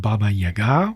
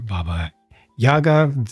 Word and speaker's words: Baba Yaga: of the uh the witch or witches called Baba Yaga or Baba Yaga different people pronounce it different ways but you can just